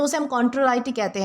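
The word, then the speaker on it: contrariety: दोस्तों इसे कॉन्ट्राराइटी प्रोनाउंस किया जाता है, जिसका मतलब होता है विरोध, असहमति या फिर विपरीतता।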